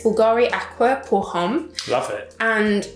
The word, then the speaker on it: Bulgari: don't they so it's like Glory but it's pronounced Bulgari what language is it they're Italian like youth